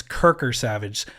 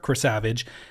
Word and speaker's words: Krasavage: Savage mostly it's Kirker Savage because I say my name it's like hi this is Chris Savage so people think it's Kirker Savage so it's like hi